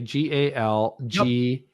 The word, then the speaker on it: Gal Gadot: So I'm going to say Galgadote.